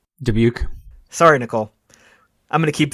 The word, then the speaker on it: Dubuque: I'm gonna say it wrong Nicole is a dubeck Dubuque sorry Nicole I'm gonna keep this joke going